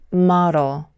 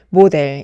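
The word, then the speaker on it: model: 가능성이 매우 높습니다 왜냐하면 원어민은이 단어를 모델이라고 발음하지 않고 말어 마러 마러 이렇게 전혀 다른 소리를 내기 때문이에요 우리가이 단어를 모델 이렇게 잘못 발음하는 이유는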